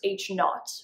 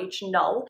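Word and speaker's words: H₀: or 0 subscript, and it's pronounced H naught or H null, and don't you dare try to pronounce it as anything other than that.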